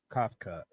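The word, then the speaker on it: Kafka: what's going on with how do you say his name Mike cough cut yeah something like that cough you nailed it you nailed it what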